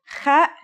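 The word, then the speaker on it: خاء: The last letter we learn here is the kha. This letter, like the ha, has no English counterpart. Kha is a sound some people make when they laugh.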